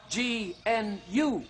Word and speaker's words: gnu: Now, the gnu is spelt G-N-U, gnu. You just leave the G silent.